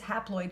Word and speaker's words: haploid: Now, what I like is haploid kind of sounds like half, right? It sounds like half-ploid.